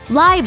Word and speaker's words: Liev: Live Schreiber sounds like an item on the fresh catch menu, and Leave Schreiber sounds like some funky British punk band.